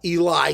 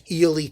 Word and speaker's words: Ely: when i talked about eli cathedral which is eely cathedral or illegally whatever the hell you call it over there and i don't